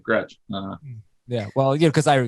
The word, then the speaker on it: Gretch: another comment here gretch rhymes with catch somebody actually said that what is that all about yes that's ben gretch g-r-e-t-c-h anthony michelle do you think that rhymes with the word catch so you've got a